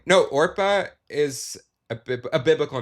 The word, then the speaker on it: Orpah: No, Orpah is a biblical name. Yes. And people just couldn't say it right, and they kept just saying Oprah. So then she just became Oprah, and it works so well.